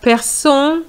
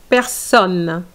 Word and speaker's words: personne: And you said person, c'est personne, okay?